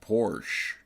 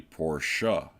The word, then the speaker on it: Porsche: ongoing dispute about how this manufacturer's name is pronounced. And those of us here in the US would like to say it's just Porsche, but it is actually Porsche.